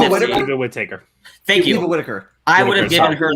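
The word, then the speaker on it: Whittaker: name it's nick not whatever taker thank you whitaker i would have given her the award this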